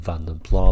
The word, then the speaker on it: Vanden Plas: but I do understand vom pla possibly isn't the right way to pronounce it but like I say in ' 76 I'm pretty sure everyone was pronouncing it like that and you seen a little bit weird if you call it anything other than vom pla but however you pronounce it it's okay with me but thank you so much